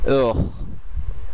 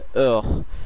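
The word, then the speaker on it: heure: এরপরে যে বর্ণগুলো আছে সেগুলোর উচ্চারণ করা হয়, যেমন এই ক্ষেত্রে ওহ। আপনারা যদি আরেকবার ভালো করে শুনেন এটির উচ্চারণ হবে ওহ, তার মানে এটির উচ্চারণ ও থেকে শুরু হচ্ছে এবং আশটা সাইলেন্ট আছে। ওহ এর অর্থ হচ্ছে ঘন্টা অথবা আওয়ার ইংলিশে।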